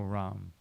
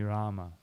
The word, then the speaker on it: Rama: But in Sanskrit there is no Ram. There's only Rama. No. This is a Hindi corruption of Sanskrit.